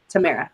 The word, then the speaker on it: Tamara: So how do you pronounce it? Tamara. Tamara. Okay. Like Panera.